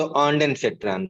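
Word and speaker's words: Ondansetron: ऑन्डान बल्कि बोल दो, ऑन्डान फेट्रान, है ना, डेन से थोड़ा कंफ्यूजन हो रहा है, तो ऑन्डान फेट्रान।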